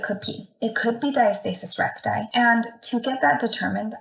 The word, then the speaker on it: diastasis recti: there, their abdomen muscles separate, and that's called diastasis recti.